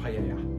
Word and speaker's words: paella: make a paella a paella which Spanish pronunciation it's a Spanish rice